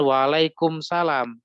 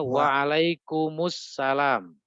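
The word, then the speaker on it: وعليكم السلام: Waalaikumsalam Warahmatullahi Wabarakatuh Nah itu bacanya bukan Waalaikumsalam ada iklannya di situ bacanya waalaikummussalam itu nanti ada materinya Jadi kalau huruf mim sukun bertemu dengan alif lam itu caranya di dhomah bukan di kasroh ya nanti ada materinya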